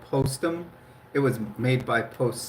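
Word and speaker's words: Postum: It it is called Postm. It was made by Post Cereal. It's spelled P O S T U M.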